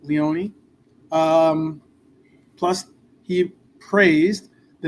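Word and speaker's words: Leoni: Um, I've heard it pronounced Lyani, but Leonei.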